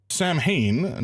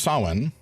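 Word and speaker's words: Samhain: Uh ah Sam Hayne not pronounced like that approximately pronounced as sawen is a Gaelic festival.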